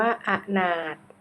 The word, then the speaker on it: อนาถ: ว่า องุ่น ข้อ 15 คำ ว่า อนาถ อ่าน ว่า อนาด แบบ ทด สอบ เรื่อง